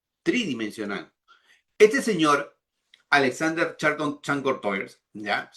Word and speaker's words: Chancourtois: Este señor, Alexander Charlton Chancourtois, ¿ya? No se pronuncia así, Chancourtois creo que es porque es francés este señor, ¿ya?